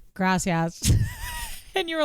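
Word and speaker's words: gracias: was having a panic attack I know it's graas I know and she calls me a wolf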